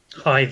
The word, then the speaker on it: Hythe: Park, I believe that's where we were, in Hythe. Did I say it right? Hythe, yeah. Yes, finally I pronounced something right. In Hythe.